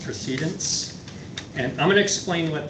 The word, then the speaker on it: precedence: We want to say precedence, but in Robert's rules, that's actually pronounced procedence.